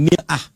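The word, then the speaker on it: مِرْآة: Bahkan sering sekali orang Arab punya perumpamaan dengan mir'ah. Ya, kalimatnya sama, cuma cara bacanya beda. Al-mar'atu kal mir'ah. Yang satu pakai fathah, yang satu pakai kasrah.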